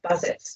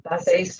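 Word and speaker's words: Bazett: One that seems to be in the literature most is Bazet's formula, or Bazet's formula, depending on how you want to pronounce it.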